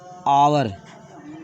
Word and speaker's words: hour: और देखिए यहाँ लिख दिए आवर, HOUR, देखिए इसको आवर पढ़ते हैं, ये से प्रारंभ है लेकिन इसे आवर पढ़ते हैं, HOUR, और यहाँ देखिए EAR, इसे एयर पढ़ते हैं।